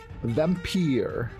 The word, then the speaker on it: Vampyr: why today we're playing Vampire yes I looked up how to pronounce it they pronounce the game vampire so we shall call